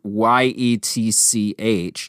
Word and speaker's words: Giertz: Giertz eventually started her own product design company called Yetch, spelled Yetch, phonetically spelling her last name.